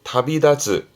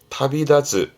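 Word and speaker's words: 旅立つ: 발음은 타비다즈, 타비다즈.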